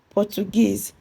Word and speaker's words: Portuguese: Portuguese, first label from the right.